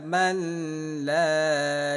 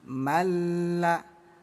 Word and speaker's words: من لا: Jangan dibaca manla, tapi malla.